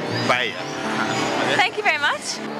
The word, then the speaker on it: paella: Yeah, it's paella. It's like paella.